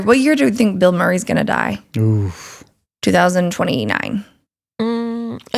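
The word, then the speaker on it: Bilmuri: The way you say is Bill Murray, but it's not spelled like Bill Murray.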